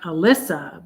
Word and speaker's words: Elissa: It's like Alyssa, but it's spelled with an E.